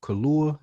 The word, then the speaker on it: Kaluuya: Speaking of good acting too, before we get out of here, man, my man from Daniel Kaluuya, is that how you say his name? Yeah.